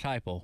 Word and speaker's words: Heupel: His last name rhymes with Skyple. Oh, man, Josh Heupel.